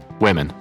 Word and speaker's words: women: で、こちら、複数形になりますと、 Women。